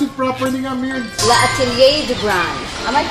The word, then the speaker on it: L'Atelier du Grain: Pronounce it properly nga. Mir Laat Atelier de Bran.